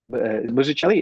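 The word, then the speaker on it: Mazzucchelli: Um and and I so I feel like this discussion we're having David Muchelli is that how you pronounce it?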